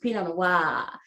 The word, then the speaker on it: Pinot Noir: I have a friend who pronounces it the way it should be pronounced, Pinot Noir. That's the correct pronunciation.